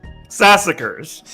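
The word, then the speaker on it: Sassacre: Sassacers like massacre.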